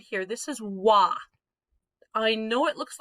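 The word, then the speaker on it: は: This is wa. I know it looks like ha. When we're using it as the subject marker, it reverts to its old-fashioned pronunciation of wa.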